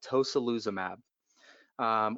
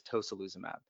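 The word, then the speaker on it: tocilizumab: is a medicine called tosyl uzum AB or toka lose a map however you want to pronounce it I believe the correct pronunciation is toh SaLuSa map and the way this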